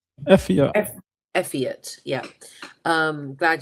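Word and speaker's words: Eifert: Obviously, the Bivol fight that the Bivol and um his opponent, I don't know the pronunciation of his name. I won't say Michael Effe on. Effe on.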